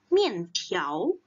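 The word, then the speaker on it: 面条: Dan 面条 ini ada beberapa cara baca. Mungkin teman-teman ada yang pernah ketemu orang bacanya dalam 面条. 面条. Jadi, jika ada R, ada di belakangnya, itu juga boleh. Nah, 我要吃面条.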